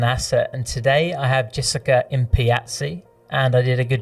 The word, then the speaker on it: Jessica Impiazzi: And today I have Jessica Impiazzi, and I did a good job of YouTubing that to make sure that I pronounced that correctly, because that is a bit of a mouthful.